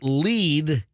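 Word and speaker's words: Lede: So the byline read, by Lead, L-E-D-E, like don't bury the lead.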